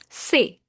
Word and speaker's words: ces: Say. CES is pronounced as say.